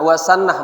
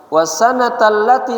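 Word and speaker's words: وسنة التي: Kemudian wasunnatallati bukan wasannah bacanya wasanatallati sayanzilu alaihi wahyu.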